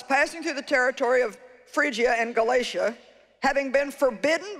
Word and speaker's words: Phrygia: getting it wrong and he had to say no think of refrigerator phrygia because i would have called it pergia and look god's using